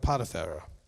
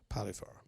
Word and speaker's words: Potiphar: And he gave him as a wife Aseneth and the daughter of Potiphar. Okay, Potiphar is what we normally pronounce that, okay? Potiphar.